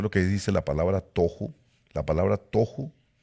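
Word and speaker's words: תֹהוּ: Es la palabra que en hebreo se pronuncia tohu. Pero algunas personas les dicen tahu.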